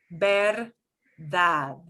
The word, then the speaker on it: verdad: So that last D hanging off the end will sound like a th.